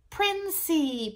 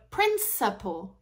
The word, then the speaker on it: principle: because that person said princy principal principal princy and actually in English we say this word principle Prince there's the schwa sound Prince so principle principle